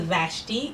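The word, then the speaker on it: Vashti: so much Empress chba so my name is vashi it is spelled v a s h TI it's a Persian name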